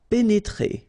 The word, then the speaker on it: pénétrer: pénétrer. Okay, remember here, accent aigu and then accent aigu. So you pronounce it E.